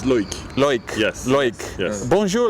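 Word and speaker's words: Loïc: My name is Loic. Correct pronunciation is Loic.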